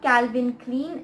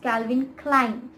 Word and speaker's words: Calvin Klein: have heard about it but it is not calvin clean it's calvin klein calvin klein calvin klein that is